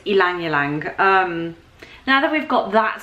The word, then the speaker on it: Ylang Ylang: not e like yelling yalong and it's actually pronounced elong so like basically think of it as an e not a Y so it's Alang Alang now that we've got